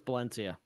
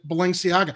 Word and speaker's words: Balenciaga: How do you pronounce that fashion company? I think it's Balenciaga. It's Balenciaga.